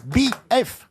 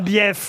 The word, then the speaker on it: bief: Eh, dites donc, il y a 2 syllabes. BF. Ah non, on dit bief.